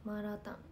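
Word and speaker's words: 麻辣湯: マーラータン、これがマーラータンって読むんですね。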